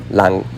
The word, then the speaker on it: đang: is what you are doing , so this pronunciation is also "đanh" a đang cái gì , or you add "Bay giờ" at the end, or I am calling my father on Douyin.